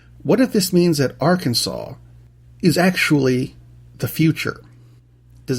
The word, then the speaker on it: Arkansas: This week we're going to Arkansas, where apparently it is illegal to mispronounce Arkansas. Even though it's spelled Arkansas, it is, check it out.